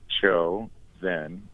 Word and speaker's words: ChoZen: way for our listeners is spelled c h o Zen so there's some poetry there well we can start with an anology of the name right show Zen comes from my last name right Cho and